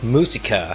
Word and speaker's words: Musica: and I just realized is it I said Musa because it like hearkened back to when I learned Spanish I don't know if it's mus or not but you tell me yeah it it's musica but you pronounce it any way you want all good